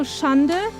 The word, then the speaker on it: Schande: So Schande is like two syllables, like Schan and de.